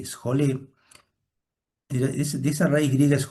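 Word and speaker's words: σχολή: Ustedes saben que la palabra este la palabra ocio es una palabra que deriva de una raíz griega que se escribe s j o l ejolé.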